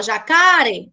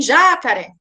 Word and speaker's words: jacaré: Como jacaré, se você chamar essa palavra jacaré, você não fala jacare e nem jacaré, né? Você fala jacaré. Então, a última sílaba ela fica mais forte, entendeu?